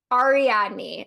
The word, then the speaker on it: Ariadne: I don't know how to pronounce her name. I think it's Ariadne or Ariadne. Ariadne.